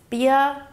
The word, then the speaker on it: Birkenstock: So the correct pronunciation of Birkenstock is Birkenstock. The Bier is pronounced with a short I sound, like in the word for bird. Then it's Ken with a short E sound and Stock with an SCH sound combined with a T.